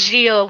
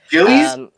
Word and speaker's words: Gilles: I think it's Gilles without the S for the French pronunciation. Yeah. Yeah. Okay. Cool. Gilles, Vanessa Gilles, right?